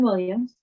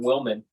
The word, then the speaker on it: Willman: Justin Williams.